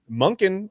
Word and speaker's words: Monken: Um, second, as you saw from a lot of those answers, Monkin rhymes with not flunking.